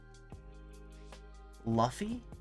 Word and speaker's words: Luffy: Luffy? It's not pronounced L-U, oh, Luffy. Like Luffy, okay, like a roofie.